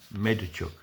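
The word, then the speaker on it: Medvedchuk: M E D V E D C H U K Medachuk.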